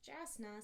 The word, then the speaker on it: JASNA: I knew vaguely that Jasna, yeah, that's the abbreviation, although personally I think that it should be pronounced Jasna, since that is an S, not a Z, had an annual general